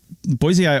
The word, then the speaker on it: Boisei: I figured out how to pronounce it. Boisei also, or I'm just going to say Zinj,